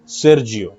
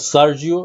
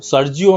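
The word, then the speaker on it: Sergio: সেরজিও, এখানে সেরজিও, এটা সার্জিও, সার্জিও না, এটা অ্যাকচুয়ালি উচ্চারণ হয় সেরজিও। আর এটা অনেকে বলে সার্জিও, বাংলাদেশের নিউজ পেপারে যেটা লেখে সার্জিও, সার্জিও ইটস রং, এটা Bangladeshi pronunciation, but actual pronunciation হচ্ছে সেরজিও।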